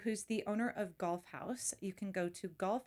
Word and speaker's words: Haus: First of all, I want to ask Jennifer, it's not house, is it? Well, that's what I say, but other people say different like I think in Germany, like if there's a proper pronunciation, house. Oh, golf house. But we say golf house.